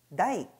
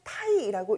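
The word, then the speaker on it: 大: 그리고 중국인들의 발음을 흉내내어서 일본에서는 다이, 다이라는 발음으로 정착되게 된 것이죠. 한 가지 더요. 자, 일본에서는 다이를 혹은 타이라고 읽는 경우도 있으니 이런 예외적인 단어도 여러분들이 따로 정리하는 것도 중요하겠습니다.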